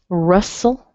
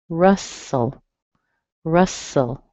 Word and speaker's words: Russell: Russell. Same thing. Strong in the R and weak in the soul. Rustle, rustle.